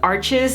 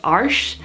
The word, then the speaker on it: Arches: is by Arch and it's commonly pronounced arches here in the US but I recently found out that it's actually pronounced arsh so I bought some